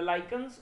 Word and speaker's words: lichens: The lichens or lichens, as you may pronounce it, are not likely to